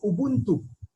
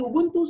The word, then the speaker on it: Ubuntu: So in the African continent, there is a community called Ubuntu.